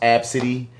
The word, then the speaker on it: ABCDE: slick girl this girl named ABCD pronounced AB City that's a wet and